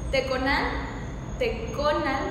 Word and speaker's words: Teconan: Teconan, porque el acento está en la O.